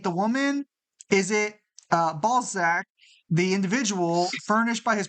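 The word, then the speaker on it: Balzac: in his story uh sarine balac uh balek I'm sorry it's it's ballzack it's ballzack ballzack okay yeah that was that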